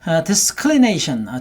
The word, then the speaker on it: disclination: Disclination 전경을 뜻하죠. Go ahead. Disclination, disclination, disclination. 여기서 이제 클리가 발음이 싹 죽어버립니다. 그래서 disclination 하는 식으로 클리 같은 경우는 소리가 좀 죽어요.